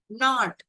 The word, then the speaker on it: knot: knot, முடிச்சு, K is silent.